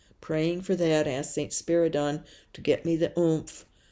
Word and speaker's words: Spiridon: I'd been pronouncing it wrong. It's Spiridon.